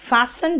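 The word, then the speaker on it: fasten: फास्ट तेज, लेकिन फैशन जो है था बेटा, ये जो टी है ना साइलेंट है बीच वाला, उसको फैशन कहते हैं।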